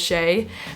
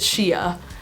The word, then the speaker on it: Shea: is called Shea my middle name is Shay but a lot of people pronounce it Shia because it's spelled s-h-e-a which is like not that normal I guess so it looks like Shia like I could see